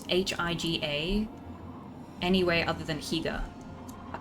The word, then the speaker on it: Higa: You have to be No, this sounds mean, but you have to be really dense to pronounce hi G- A anyway other than Higa.